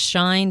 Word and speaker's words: Schein: look at michael's book his last name is spelled s-h excuse me s-c-h-e-i-n it's pronounced shine but it's s-c-h-e-i-n and the book again is the hype handbook by michael f shine and if you've been